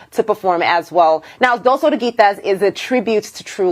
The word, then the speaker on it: Dos Oruguitas: Dos Oruguitas, that's the pronunciation.